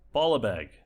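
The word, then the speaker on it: Baalbek: new favorite city name, Baalbeg, or Baalabeg. That's how it's pronounced.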